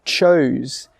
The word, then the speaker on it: chose: I got a question the other day from a student who said, what's the difference between choose, C-H-O-O-S-E, and chose, C-H-O-S-E? Let's start with the pronunciation first.